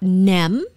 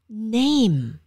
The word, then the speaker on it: name: vietnamese say my name it's not nem it's name okay who is this person who like can't stop i'm gonna okay dude bye you're gone okay so it's name name not nem okay my name